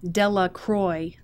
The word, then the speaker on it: Delacroix: Jones and Dickie Delacroix the villagers pronounced his name Delacroix eventually made a great